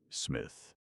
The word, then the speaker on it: Psmith: What is your name, Smith? The P is silent.